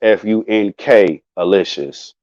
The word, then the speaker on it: funkalicious: didn't spell funkalicious right that's f u n k alicious all right that's how you spell funkylicious if you in k delicious and ain't funka delicious or funkylicious or it's f-u-n-k alicious and alicious is spelled a-l-i-ishes all right i was